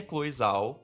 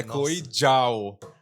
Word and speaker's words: Chloé Zhao: Então, assim, vamos subir pro piso térreo, vamos voltar e explicar um pouco quem é Chloe Zhao.